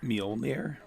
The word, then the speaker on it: Mjolnir: Minor. Mjolnir.